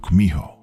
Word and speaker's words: kumiho: In Japanese, you've probably heard of it as kitsune, though in Korean it's pronounced kumiho.